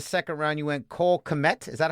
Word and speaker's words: Kmet: You went Cole Kmet. Is that how you say his name? Yeah, Cole Kmet. Cole Kmet, another tight end, which we'll get to that in a second.